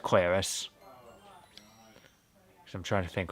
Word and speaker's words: Claris: least I've confirmed that Claris's name is pronounced Claris.